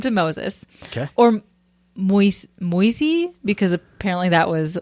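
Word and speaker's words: Moïse: the old uh Testament no it's m o i s e mois huh I know mois like Mo with an S at the end there was a baseball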